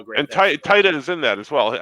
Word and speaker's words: Taika: How do you say the guy from Thor? Taki what? Taika.